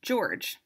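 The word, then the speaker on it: Georges: dad loses his job George that's with a silent s has to move to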